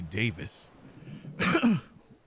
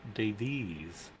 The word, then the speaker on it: Davies: Right, you still calling me Davis. Very sad. Huh? You called him Davis. Am I saying it wrong? It's Davies. No.